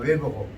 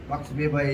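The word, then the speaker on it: Max Weber: 그 총체적으로 정리한 사람은 막스 베바라고 하단 말이에요. 영어로 발음하면 웨버고 막스 베바에 의해서 이루어졌던 것들이 오늘날 이루어졌다.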